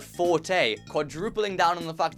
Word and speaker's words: forte: And third, it's not actually pronounced fort, but forte, quadrupling down on the fact that our main character is shit at writing haikus.